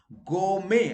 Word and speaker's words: gourmet: not silent wrongly people keep it silent okay go may average in the pronunciation you know french gourmet okay you go